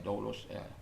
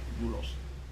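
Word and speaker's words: δοῦλος: dolosnya dulosnya Tuhan Ya kalau orang bacanya dolos katakan tulisnya dolos bacanya dulos dulusnya Tuhan jadi kita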